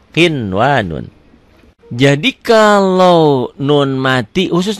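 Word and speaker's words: قِنْوَانٌ: Karena ketemu satu kalimat, satu kata, dia menjadi idhar mutlak. Dibacanya apa? Kinwanun, ya. Qinwanun.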